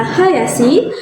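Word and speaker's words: はやし: Nah, minasang, untuk cara bacanya ada dua loh. Ada kunyomi dan onyomi. Kunyominya dibaca hayashi, sedangkan onyominya dibaca ring.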